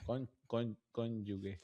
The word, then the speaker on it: cónyuge: Sabes, fun fact, eh, dato curioso, la mayoría de los latinos pronuncian la palabra cónyuge cónyuge de con cónyuge. Es raro. Eh, tú pronuncias cónyuge, ¿verdad? Aquí con Franco, creo que lo normal pronunciar cónyuge, pero es cónyuge. Okay. Aquí la gente sorprendida, pero sí, mi esposa me lo dijo hace tiempo. Con con con yuge, con yuge, ¿sí?